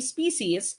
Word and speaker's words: species: Parehas pong tama yung pagkakapronounce, no? It's either species or species.